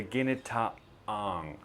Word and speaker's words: ginataang: This is called ginataang. Ginataang. I usually have my students practice this word because there is a very noticeable and obvious glottal T right in the middle. The ginataang, that's the glottal T.